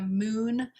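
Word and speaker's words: Mun: So this is the Moon, and it's spelled M-U-N, Ankari Brightening Youth Serum.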